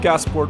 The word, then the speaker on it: Gasport: Yes, Gasport, New York, yeah.